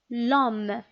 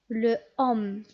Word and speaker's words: l'homme: fait une liaison loiseau un autre exemple l'homme le home est ce qu'on peut dire est prononcée l'homme de cette façon le sommes tout simplement non pourquoi c'est le deuxième cas parce qu'on a dit que l'homme ici commence par un h muet sommes donc je remplace